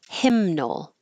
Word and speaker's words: hymnal: And hymnal, hymnal, now you'll hear the in.